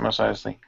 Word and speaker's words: Mos Eisley: That's how you pronounce it, Mos Eisley.